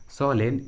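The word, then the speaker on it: solemn: सोलेन and Orton, यहाँ पर एम का आवाज़ नहीं आ रहा है।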